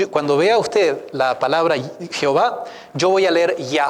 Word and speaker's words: Jehová: ya y la palabra Jehová viene cuando se mezclan estas cuatro consonantes con las vocales de la palabra adonay los escribas cuando estaban